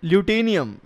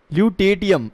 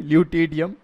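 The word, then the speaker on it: lutetium: atomic number 57, टू ल्यूटेनियम, टू ल्यूटेनियम, एल U spelling देख लो, एल यू टी ई टी आई यू एम, ल्यूटेटियम, ल्यूटेटियम है ये, sorry ल्यूटेटियम, atomic number, atomic number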